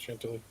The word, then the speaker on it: Chantilly: the D.C., Virginia area, and also in the Chantilly, Virginia area. Is that how you pronounce it? Chantilly.